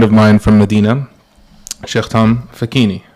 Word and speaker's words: Facchine: I have with me a good friend of mine from Medina, Sheikh Facchine, right? Did I pronounce it correctly? Yes, that's right. Facchine.